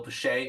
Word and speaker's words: Piche: so welcome Bill and thanks and it's Bill pet is how you pronounce it which that's y know for many